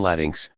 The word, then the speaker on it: Latinx: inclusive of transgender women the term latinx pronounced Latin X is a gender neutral